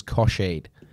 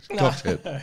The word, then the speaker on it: Cockhead: a guy whose last name was Kosheed. Kosheed, spelt C-O-C-K-H-E-A-D. Cockshead. Kosheed. Cockshead. Cockhead. And... Perry Cosheed was the guy you went to school with, and that's not too bad, mate. Yourself, Perry Cockhead, pronounced Cosheed.